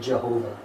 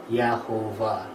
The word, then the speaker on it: Jehovah: If you read that phonetically, it says Yahovah, which isn't the way that Yod He Vav He is pronounced in Jewish scripture, but that's how we get the name Jehovah in English.